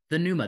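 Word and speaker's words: pneuma: uh what is this the Numa the p is silent folks uh least amongst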